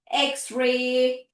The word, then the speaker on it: X-ray: wxyz correct x sound whenever it is followed by the hyphen you need to read it with its letter name xmas xray Okay.